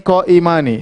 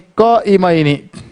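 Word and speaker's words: قائمين: Enggak boleh kita baca kana thalibani qaimani. Salah. Diketawain sama orang Arab. Salah. Bacanya kana thalibani qaimaini.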